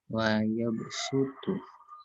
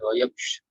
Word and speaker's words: wa yabsutu: Itu dibacanya sin. Jadi wa yabsutu, bukan wa yabshu, bukan pakai shad, tapi pakainya sin.